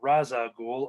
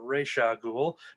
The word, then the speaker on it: Ra's al Ghul: hiring these detectives to track down her father, Ra's al Ghul, or Ra's al Ghul, depending on what school of pronunciation you come with.